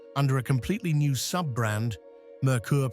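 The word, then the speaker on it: Merkur: Mercur pronounced like Mercury, but in German based on the European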